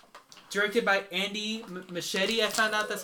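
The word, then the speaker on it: Muschietti: Directed by Andy Machete. I found out that's how it's pronounced.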